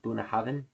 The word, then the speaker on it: Bunnahabhain: uh or any other Bunahav product for that matter. Um and it's pronounced Bahav like the BH makes a V sound. Bunahavin.